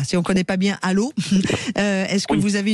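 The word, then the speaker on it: Allauch: Alors, ça se dit allô mais oui, on est on est sur 15000, il y a pas de souci. Non mais allô. Voilà, exactement allô. Ça s'écrit àoche mais ça se dit allô.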